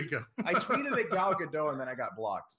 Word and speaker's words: Gal Gadot: I tweeted at Gal Gadot and then I got blocked. So I don't. It was weird. So I tried to get her first. So that's how you say her name, Gal Gadot.